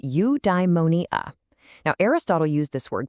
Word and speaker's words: eudaimonia: Okay, I've got a new word for you, eudaimonia. It's pronounced you die money uh.